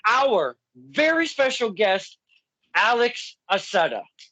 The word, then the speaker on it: Accetta: And, it could be pronounced Accetta or Accetta. Just remember that, boys and girls. But that's the old Italian, if you will. Accetta.